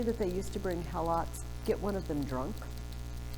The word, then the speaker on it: Helot: Sparta conquered the neighboring peoples, and they call them Helots. Sometimes it's pronounced Helots.